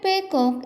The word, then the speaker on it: paycock: The word paycock is the Irish pronunciation of peacock, which is what Juno accuses her husband of being, and he lives in a showing without doing anything.